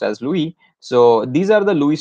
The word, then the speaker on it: Lewis: looking at the electron dot structures or the Lewis structures sometimes you know so it's written as Levites but pronounced as Louie so these are the Lewis structure that you